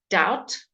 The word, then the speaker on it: doubt: Remember, BT. Again, the B will be silent. Doubt.